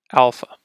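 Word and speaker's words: ἄλφα: so starting we have Alpha pronounce ah very similar to the English a ah Alpha next vetta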